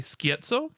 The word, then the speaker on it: Scherzo: A lot of people were expecting a adaptation of the 8th Doctor story, Scherzo, which is how it's pronounced, guys.